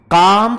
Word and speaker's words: calm: L silent होता है इसमें, इसकी तो अपनी डिग्रियां है, मोर लगाने की जरूरत नहीं है।